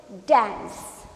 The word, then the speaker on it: dance: But when C and E comes together, then we can change K sound into S. So pronounce it dance.